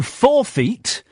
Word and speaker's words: forfeit: We either go in and sit in the front row and you forfeit your sweets and drink. That's how it's pronounced.